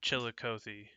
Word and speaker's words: Chillicothe: now you're you're all good uh chili uh Chillicothe is that correct okay Chillicothe I do apologize it's some of these towns